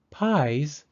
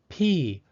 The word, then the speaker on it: pies: Pies is spelled P-I-E-S. Because I and E are both vowels, the second vowel, E, is silent, and the first vowel, I, takes the long I sound.